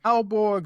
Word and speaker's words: Aalborg: Alborg Zoo in Denmark, if I'm saying that right, it's spelled Aalborg. So zoo in Denmark, and